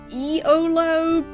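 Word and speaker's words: Iolo: I just pronounce it like YOLO, because, like, EOLO just feels like a weird way of saying it.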